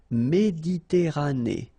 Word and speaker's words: Méditerranée: Okay, here final not pronounced, but then you pronounce this E at the end. Méditerranée.